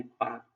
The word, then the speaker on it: Palk: देख लो पाक स्ट्रेट, देखो इसका स्पेलिंग अलग है ना, PALK, इसी को कहते हैं पाक जल डमरू मध्य, ठीक है।